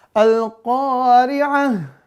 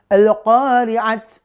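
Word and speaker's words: القارعة: diwakafkan Al-Qari'ah mal-Qari'ah, ya, maka ini taknya diganti menjadi ha. Jangan sampai ya kita karena nggak belajar nih, nanti pas baca Al-Qari'ah jadinya mazhab sendiri nanti. Gimana bacanya? Bismillahirrahmanirrahim. Al-Qari'at. Wah yalah, Al-Qari'at mana ada Al-Qari'at ya? Mal-Qari'at. Waduh, bener gak? Salah.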